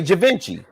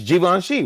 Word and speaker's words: Givenchy: how to pronounce they they say javinci it's jivanshi right so so when